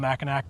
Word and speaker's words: Mackinac: I was told by someone that even though it's spelled Mackinac, the locals say Mackinac.